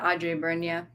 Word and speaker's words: Adjei-Brenyah: We're talking about Chain Gang All Stars by Nana Kwame Adjei-Brenyah. Did I say it right? Yeah, Adjei-Brenyah.